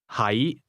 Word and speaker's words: 喺: 係 The difference is that to be is pronounced with a low, level tone, and to be located is pronounced with a mid-rising tone.